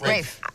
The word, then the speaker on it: Ralph: we can Jackson Oh Ralph Fiennes mom is Rafe who pronounces it rape Oh josephs no sorry yes